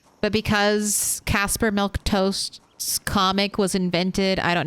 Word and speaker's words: Milquetoast: a weird dumb word it's milk toast it's it's a made of word it's based off of the comic book character Casper milk toast but because Casper milk toast comic was invented I